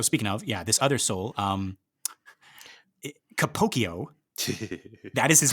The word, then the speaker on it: Capocchio: Like, and I've heard people say it out loud. Capocchio. I really like that, right? Because it is spelled like Pinocchio, right? Yes, it's the CCHIO, right? Capocchio.